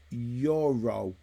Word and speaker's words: gyro: being skilled skilled from Heidi uh gyro is pronounced Euro Euro a euro is it Euro hello boss